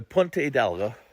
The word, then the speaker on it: Punta Hidalgo: another place today called Punta Hidalgo. Punta Hidalgo. Remember, in Spanish, the H is always silent. So if you see anything with a H in Spanish, kind of use it as a silent letter.